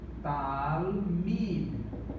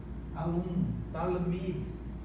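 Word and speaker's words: תלמיד: Então nós temos talmid. Por quê? Porque esse shivá aqui não é pronunciado.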